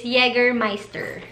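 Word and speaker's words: Jägermeister: take one ka na ang pronunciation niya pala is yeger meister scotch bright kasi lagi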